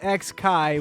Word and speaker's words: X Kai: but number seven is X Kai which is supposed to just be pronounced as Kai apparently but I have